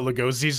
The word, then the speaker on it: Lugosi: Apparently, we've been pronouncing Bela Lugosi's name wrong the entire time. It is actually Lugosi.